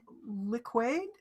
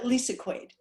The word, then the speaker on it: Lisa Quaid: um okay next and i'm gonna say your name wrong liquid is that right there we go yeah lisa quaid that's my screen name